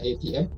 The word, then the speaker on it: ATM: ATM dibacanya seperti bahasa Inggris ya, ATM.